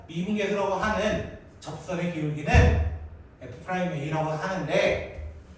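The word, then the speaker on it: f′(a): 미분 계수 그 기호의 표시를 앞으로 f프라임 a라고 합니다. f프라임 a 프라임 a라고 읽어야 돼. 점이라 읽으면 안 돼.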